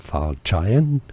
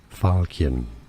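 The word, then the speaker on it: falchion: Yes, the ch here is pronounced like a K, so it's not falchen or falchian. Falcon.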